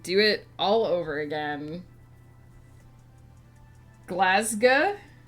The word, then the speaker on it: Glasgow: it all over again glasa the glass part is pronounced like ass glass okay and the ow part so you don't do it like glasi oh if you're from